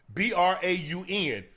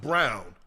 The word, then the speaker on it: Braun: Yeah, if the guy from the Nuggets is spelled Braun, Braun, but it's pronounced Brown. Christian Brown. It's spelled, it looks like it should be Christian Braun. Right. But it's pronounced Christian Brown.